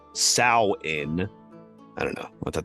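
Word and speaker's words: Samhain: and like I said it was s m ha a i n but it says pronounced sa in I don't know I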